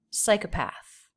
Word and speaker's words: psychopath: Psycha with the schwa path. And there is secondary stress here, psychopath. But that just means it's a little bit longer. It doesn't have a big up-down shape the way psi has. Psychopath. And the TH here is unvoiced.